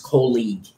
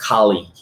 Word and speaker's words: colleagues: colleagues and guys remember that we don't even pronounce colleagues co-league okay not even in the british pronunciation i believe it's pronounced kali okay now the next one will be you'll